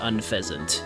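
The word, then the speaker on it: Unfezant: It is It is pronounced unfasant. Yes, cuz it's an unfazed pheasant.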